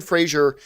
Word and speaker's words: Frazier: fun fact the Essen Frazier is pronounced like laser uh this is from Brennan himself Frazier is pronounced differently cheers